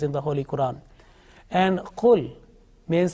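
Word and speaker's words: قل: similar sounding letters, and certain letters are pronounced with thick sound and also some with thin sound. You can see the example now here, the kul, and the second one is qul.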